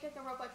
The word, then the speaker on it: Danganronpa: Hey, Lexi, when you have money, you should play Danganronpa, Trigger, Happy Havoc.